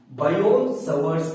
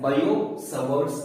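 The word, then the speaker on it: Biot–Savart: you, that is Biot-Savart's law, and it is pronounced as Biot-Savart's law. Okay, so here he is silent. So we pronounce it as Biot-Savart's law.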